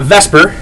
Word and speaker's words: VSEPR: two three or four all right so uh Vesper which obviously that's the way it's pronounced is is basically a theory that's used